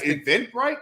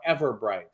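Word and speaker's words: Everbright: too so we have eventbrite like the the the company that's given tickets i said it wrong ever bright i'm gonna say correctly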